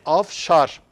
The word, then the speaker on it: Avşar: Eee yani nereden kaynaklanıyor niçin Avşar diyoruz Kaşkarlı Mahmut 11 yüzyılda Fahrettin mübarekşah 13 yüzyılda Avşar için Avşar denmiş raşidin 14 Yazıcıoğlu 15 Ebul Gazi 17 yüzyıllarda Avşar ismini yazmış kayıt ve kuyut lında telaffuz etmiştir moğolla birlikte diğer vakay nameler gördüğümüz ifade af şar f ile olduğunu demin söylemiştik tekrar etmiş